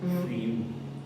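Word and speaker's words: friu: frio, F-R-I-U, or F-R-I-U-W, because that's how you say it, frio. Okay. You end with like a more W sound.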